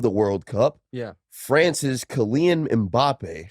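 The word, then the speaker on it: Kylian Mbappé: France's Kylian Mbappe. Kylian Mbappe.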